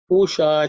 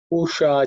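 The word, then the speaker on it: पूषा: In terms of pronunciation, just pay attention to the sh, which is a cerebral sh. The tongue should be pointing towards the roof of the mouth.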